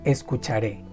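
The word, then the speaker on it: escucharé: in infinitive escuchar and you add the E with stress this symbol in Spanish it's called tilde and when you find a tilde in Spanish you have to stress the word in that letter is I will listen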